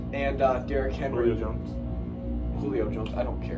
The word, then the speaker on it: Julio Jones: Yeah, but- Tennessee's been on a hot streak lately, even without Julius Jones and Derrick Henry. Julio Jones.